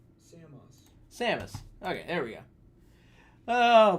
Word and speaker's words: Samus: let's start let's start with this samus samus sheamus i think it's samus how to pronounce metroid see sammas samus samas samus oh boy we're just gonna do this how to pronounce samus samus okay there we go oh boy every week